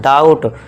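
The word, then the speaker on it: doubt: है इसे क्या पढ़ेंगे डाउट ड्यूटे नहीं यहां बी साइलेंट है डाउट और इसे यहां क्या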